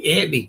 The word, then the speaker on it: Anthony: Antny is how New York Italians pronounce Anthony. Antny.